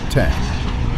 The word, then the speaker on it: X: when Textron put the Citation 750 or X pronounced 10 into production in 1996 with its enormous Rolls-Royce AE3.